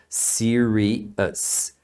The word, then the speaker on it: serious: e fica errado né não é ous a pronúncia é US serius tá falando naturalmente are you serious that's weird